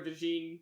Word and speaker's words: DeJean: Like, Cooper DeJean, I don't know if that's how you pronounce it. No, it is. It's the John.